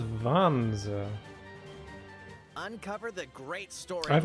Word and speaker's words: Vanzer: Is that how he pronounced it? Vanza? Gain the upper hand in battle by aiming for enemy parts to destroy. Mix and match various weapons and parts to customize your Vanzer. He says Vanza.